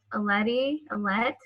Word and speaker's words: Alette: Alette. Sorry if I'm pronouncing your name wrong. I'm unmuting you. Hi, you're fine. It's pronounced Alette, so you're perfect.